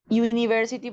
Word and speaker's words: university: Por ejemplo, hay palabras que se pronuncian you, iu y u. University, por ejemplo.